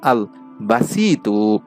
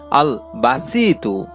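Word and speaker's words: الباسط: পবিত্র গুণবাচক নামটি হচ্ছে বাংলা উচ্চারণ হচ্ছে আল বাসিতু আমি আবারো বলছি আল বাসিতু এই নামের উচ্চারণটি এটি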